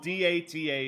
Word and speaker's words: Data: Date. Date is how you say his name. The AI part. It's not I. No, if it's spelled D-A-T-A, it's said data.